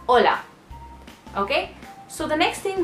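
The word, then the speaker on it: hola: wondered why it's not hula if they're writing it hol because the H is silent I mean always you write it sometimes but you don't pronounce that so it's Ola okay so the next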